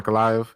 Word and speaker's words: Ankalaev: Yeah, Ankalaev.